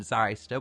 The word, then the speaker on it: Zyster: It's a really odd spelling pronunciation here. We have Zyster rather than Zyster. That's what you'd typically assume if you looked at the name. However, it is pronounced Zyster.